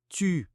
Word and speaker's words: tu: Und verwechselt nicht ''u'' und ''ou''. „tu“ und „tout“ werden nicht gleich ausgesprochen. Bei „tu“ ist der Mund stärker gespannt. Um „tu“ zu sagen, muss man ein kleines, gespanntes O mit den Lippen formen. Bei „tous“ ist es runder, entspannter.